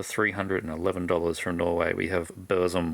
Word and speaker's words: Burzum: At number 4, for $311 from Norway, we have Burzum, or Burzum if you want to say it like Varg does.